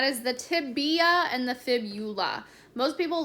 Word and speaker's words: fibula: and like kind of combine the words of saying tibia and fibia but it's actually fib eula so if you put fibia it will be wrong it is fibula so looking back to